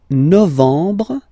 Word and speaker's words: novembre: Novembre, novembre, novembre. Okay, E-M en, en, novembre, novembre.